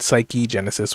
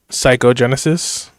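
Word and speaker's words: Psychegenesis: top they decided that they wanted to spell it psyche genesis with a e. So, I know a lot of people are still caught up saying psychoenesis for the fifth book, but it's psyche Genesis.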